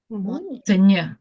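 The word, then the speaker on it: moño: Monyo. Monyo. Chignon. Like mono but with an N with a tilde.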